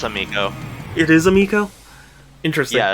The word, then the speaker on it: Amico: Yeah, I remember they in the like promotional material for the Amico or however you pronounce it. It's Amico.